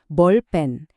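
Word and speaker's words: 볼펜: Bolpen.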